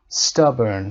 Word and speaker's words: stubborn: stubborn صدای آ کوتاه.